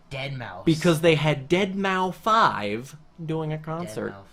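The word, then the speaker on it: deadmau5: Because they had Dead Mouse 5 doing a Dead concert. Mouse 5. That's Oh, how yeah. you pronounce it.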